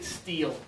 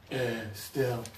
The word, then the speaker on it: still: at two or three I heard you say steel with the high Tom you have to push your tongue down lower spill that's it good job good correction I heard pretty close to eat but you just did it perfectly still and then the first